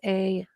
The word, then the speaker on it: Sauer: Sauer on Instagram. That is at Dr. with 2 R's. Sauer is Sauer. Kind of spelled like sauerkraut.